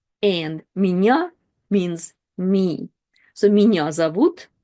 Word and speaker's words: меня: However, here it's part of the bigger word, and ye is not stressed. It's меня, меня. When ye is not stressed, it's reduced to kind of like this e sound.